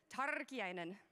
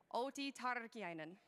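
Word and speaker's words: Outi Tarkiainen: t tardy einen okay I know you guys can roll your R's better than that turkey einen OT turkey einen pretty good pretty good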